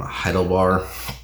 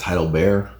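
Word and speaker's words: Heidelbär: And the same goes for meeting Michael from Heidelbar. No, I'm sorry, it's Heidelbear. It's spelled Heidelbar, but there's an umlaut. Yeah, I think it's Heidelbear. I mean, their mascot's a bear, so probably Heidelbear Games.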